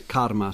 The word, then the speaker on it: karma: I'm pronouncing the R as told by you because it's not karma as in the Kama Sutra, it's karma something else, and bhakti and so on.